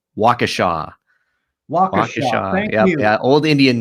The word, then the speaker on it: Waukesha: a good discussion with you and it is pronounced waukesha yeah old indian name yep yep so um